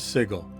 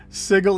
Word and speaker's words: Sigil: you were, outsider, but you pronounced the name of our fair city Sigil, not Sigil, and there can be no excuse for that.